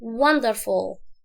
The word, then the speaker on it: wonderful: لان الاو دي بتكون على القاموس حاجه كده بتبقى اسمها ايه، شو، حاجه مقلوبه كده شو، فبيبقى الصوت ضعيف، فالاو المفروض ما اوضحهاش في النطق. فاقول ايه، الشوا ده بيبقى صوته فنقول ايه wonderful.